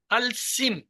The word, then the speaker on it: الاسم: جیسے الاسم کو جب پڑھیں گے تو کیا کہیں گے؟ الاسم، الاسم کی بجائے اسے کہیں گے السم. السم یعنی الف جو ہے وہ نہیں پڑھا جائے گا.